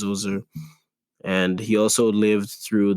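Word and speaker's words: Djoser: the reign of pharaoh so i call him jose but apparently his name is pronounced zuzer and he also lived through the reigns of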